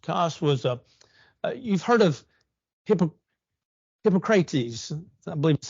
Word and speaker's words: Hippocrates: Kos was you've heard of Hippocrates. I believe that's how you pronounce his name, father of medicine.